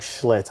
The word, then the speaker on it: Schlitz: But my dad used to drink Schlitz. I'll never forget that. It was so nasty. Ugh. So nasty. It rhymes with what it gives you.